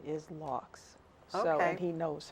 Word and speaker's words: Laux: I kept on pronouncing it Low, and I was at the writers, the festival in Iowa, Okay.